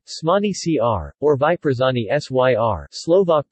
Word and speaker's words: Smažený sýr: Smažený Sir, Czech pronunciation, Smažený Sir, or Vyprazany Syr, Slovak pronunciation, Ipra Ani Sir,